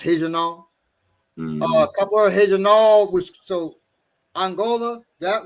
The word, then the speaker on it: Regional: janal which is looks like regional but it's pronounced heejano um which so angola that was from the